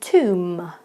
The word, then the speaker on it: tomb: are pretty difficult because students always try to pronounce the B at the end of the word but you do not need to pronounce that beat at all so it just becomes climb